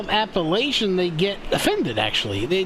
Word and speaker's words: Appalachian: of the words okay so it's appalachian you gotta say it right man appalachian appalachian you just said it's appalachian no it's appalachian you're getting me confused damn it it's appalachian appalachian they'll get mad at you you don't say it like that appalachian hollow hunters yeah there